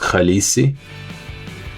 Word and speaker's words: khaleesi: Yeah, so I should have just respelled it on my own and just said that the word is pronounced Khaleesi.